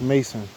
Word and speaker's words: Macon: Bayou Macon. You are standing on the eastern edge of the Macon, pronounced Mason. Mason. Mason.